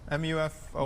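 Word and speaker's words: MUFON: You and Muon, is that how it's pronounced? MUFO.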